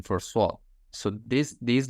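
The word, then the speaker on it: صاد: So if the that person is, non-Arabic, so he will pronounce like Sadaka with seen, because there is no pronunciation for swad.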